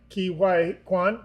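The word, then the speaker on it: Ke Huy Quan: And I also love, right, Ki Hwai Kwan.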